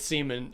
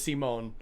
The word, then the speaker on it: Simone: Gino, stop pronouncing it Seaman. I'm you're you're killing me. His name is Simone. You're you're actually killing me pronouncing it that way, Gino.